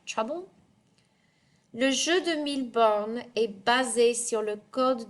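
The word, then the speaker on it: Mille Bornes: And you see here, you're actually going to pronounce it 1000 because you're saying 1,000. Oh, let me move my head. 1000 bornes.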